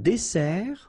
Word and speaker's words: dessert: So, remember that we've got here two S. Okay? That's the reason why you pronounce it S. And then it opens the dessert. Un dessert. So you don't say un dessert, okay? But you say un dessert. Final T not pronounced.